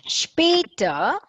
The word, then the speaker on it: später: Später means later. And you can see how the A umlaut here is pronounced. It's sp.